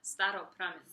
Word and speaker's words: Staropramen: No, Staropramen.